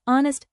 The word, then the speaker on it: honest: Because honest starts with a vowel sound, even though it's spelled with an H, always use an before vowel sounds, not just vowel letters.